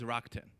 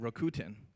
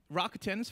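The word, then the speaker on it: Rakuten: tell you what is rockton first of all don't pronounce it rokutan right that's maybe the UK version and they didn't do so well rakatans fine or Rockton rockton means optimism and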